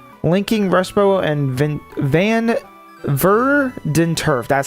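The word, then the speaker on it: Verdanturf: Linking Rushbow and Van Verenturf. That's how you say it. Verden Turf.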